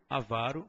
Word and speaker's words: avaro: Ó presta atenção então certo é pudico avaro rubrica Tem que memorizar a prova cobra então pudico avaro e rubrica são as formas corretas tá essas três são as que você escuta mais frequentemente pronunciadas de forma equivocada até do pessoal da área médica mesmo tende a pronunciar essas palavras de forma equivocada e propagar o erro aí por todo mundo tá o certo ainda